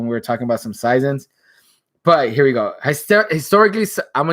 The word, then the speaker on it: saison: But Saison, French season, French pronunciation is Saison or something like that.